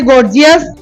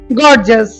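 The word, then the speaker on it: gorgeous: গর্জিয়াস, গর্জিয়াস, গর্জিয়াস, হ্যাঁ, ও বলছে এটা হচ্ছে গর্জিয়াস, এটা হচ্ছে গর্জাস, গর্জাস, গর্জাস, গর্জাস।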